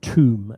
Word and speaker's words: tomb: So, the pronunciation is not to, it's tomb. Do you remember that? Tom. Tomb.